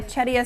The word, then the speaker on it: Charkira: Okay, this is Charkira.